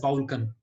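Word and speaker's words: Balkan: इसको प्रोनाउंस बाउल्कन करते हैं, बट लिखते बल्कन है, ठीक है। सो अगर आप प्रोनाउंसिएशन के साथ जाना चाहते हो इट इज कॉल्ड बाउल्कन, बट अगर आप इंग्लिश के साथ जाना चाहते हो इट इज कॉल्ड बल्कन।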